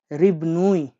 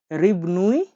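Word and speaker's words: рыбный: রিবনুই, রিবনুই magazine, M এ জি এ জেড আই এন, জেড আই এন, তাহলে কি হলো? রিবনাই magazine মানে রিবনুই ম্যাগাজিন, রিবনুই ম্যাগাজিন মানে হলো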